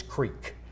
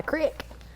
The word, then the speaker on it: creek: a creek yep which it's a double e so that you would say e which it's Creek that's the correct pronunciation